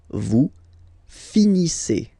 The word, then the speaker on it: finissez: Vous finissez. Okay, a Z at the end gives you the sound E.